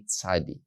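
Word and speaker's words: צ: witch by the way makes the sound sa like the letter t s letters t s you will see that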